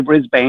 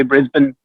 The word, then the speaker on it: Brisbane: You can't say Brisbane. You have to say Brisbane.